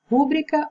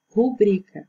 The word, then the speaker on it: rubrica: Então, se questiona se na letra A é rúbrica ou rubrica. Então, a forma correta é rubrica, a segunda opção.